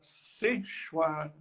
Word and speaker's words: Seshwara: Samkhya numa versão chamada Seshwara Samkhya. E Ishwara pode-se traduzir como Senhor. E Sa significa com. Quando você junta Sa mais Ishwara, dá ali uma contração e você pronuncia Seshwara.